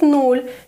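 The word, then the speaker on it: нуль: let's start counting and be careful to pronounce null correctly as here we have a soft sign null try with me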